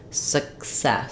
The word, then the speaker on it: success: letter C and an S sound for the second letter letter C success success we don't let that k out so you'll hear it like s s you won't really hear it but it it'll keep that first vow very short success then we have the